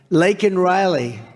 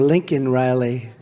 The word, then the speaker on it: Laken Riley: Laken Riley. And, Biden was unable to pronounce her name, called her Lincoln Riley.